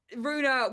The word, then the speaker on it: Ruena: So I was like, well, Rue's a word, like Rue the day, and in France, no problem. Everybody in France can pronounce it first time because it means road.